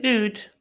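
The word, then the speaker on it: oud: nude and thank you it's not not even a loop then it's in it's an Ood what is nude how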